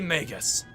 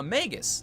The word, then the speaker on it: Magus: to seismic tremors nah Magus like a mage magical that's how it is